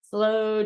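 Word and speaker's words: sloe: Slow Gin. Which is spelled S-L-O-E. True. Not slow as in movement.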